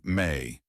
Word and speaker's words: me: The greatest spiritual principle was the me pronounced may the set of divine